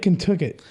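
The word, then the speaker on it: Contoocook: Lake Kentucket, Lake Kentucket. Yeah. which is kind of spelled like Contacook, but like it's like these.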